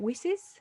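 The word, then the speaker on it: WiCyS: board member at how do you say it wises that's right women in cyber security westerners we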